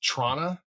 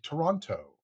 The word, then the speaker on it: Toronto: to Toronto that if you want to sound like a local, you just sort of smash it together. It's Toronto. It's just like one word. There's no second T in it. You can always tell when they're not local when they say Toronto or something like that, you know?